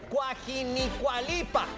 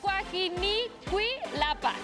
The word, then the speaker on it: Cuajinicuilapa: con Los diablos de y lo voy a pronunciar bien cuajinalpa eh lo dije bien no Cuajinicuilapa Ándale pues ya está